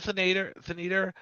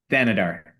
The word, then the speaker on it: Thanedar: So Neil Thaneder, uh, And how do you say it? Thanedar.